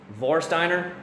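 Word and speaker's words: Warsteiner: good beer by the way I'm sure it's pronounced voir Steiner because it W is in Germany or pronounced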